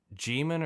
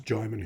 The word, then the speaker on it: Djimon: And yeah, I wish I could just pronounce his name with gusto, but uh is it Jimon or Djimon? it's Djimon Hounsou, yeah.